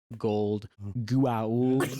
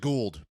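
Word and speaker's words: Goa'uld: 'Cause the way they pronounce it's like, it's gold, Gua'uld, like however you want to say it. Get used to it. Yeah. Yeah. Buckle up. Hammond always calls it Gould. It's always the Gould.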